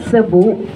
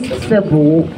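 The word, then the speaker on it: Sebu: Sa word po na Lake Cebu, yung tribal word po dyan ay yung Cebu. Yung S-E-B-U po, yung tamang pagbigkas po nun ay Cebu.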